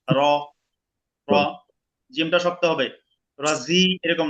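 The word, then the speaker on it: الرجيم: শাই এতদিনই মিনাশ শাইতানির রাজিম হয়েছেুবিল্লাহি মিনাশ শাইতানির রাজিম জিমটা শক্ত হবে রজিম রজিম ঠিক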